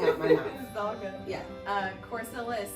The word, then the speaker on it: Corcilla: Double L is not the Y that you know is in Hispanic language.